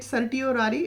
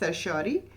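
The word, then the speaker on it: certiorari: definitely don't recommend uh you know calling it sirari it is called as sersi and also you can check it on Google the pronounciation exact pronunciation for this word the spelling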